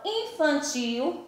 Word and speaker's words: infantil: Então, infantil, observe o in, a mesma coisa. O n, eu não pronunciei o ne, não pronunciei, eu pronunciei in, como se tivesse um tio em cima do i. Então, infam, mesma coisa com fan, pronunciei, não tem o n, é como se tivesse um tio. E tio, né, eu pronunciei o L como se fosse um U, a letrinha U, tio, infantil, certo?